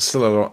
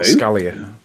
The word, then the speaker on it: Scylla: What you're calling Scalia, I think it's pronounced Scylla. Because it looks like the thing that was called Scylla in Prison Break.